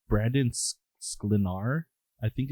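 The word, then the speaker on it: Sklenar: it's how it's pronounced I thought it was skar but I think it is glenar I see there's an L right after the K so yeah I think it's glenar okay and he he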